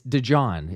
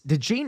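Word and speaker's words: DeJean: people are reminded yes it's it's dejon it's it's de Jean officially is the correct pronunciation but you know I I go back and forth but yeah the way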